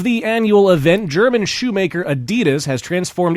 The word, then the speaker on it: Adidas: Can I just point out that Adidas is not the way the company is pronounced in German? So how's it pronounced in German? Adidas.